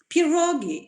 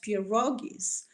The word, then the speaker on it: pierogi: next slides this is how pierogis looked like pierogi is simple a polish name and this is plural for something that they are well known as pierogies if they are known and made by the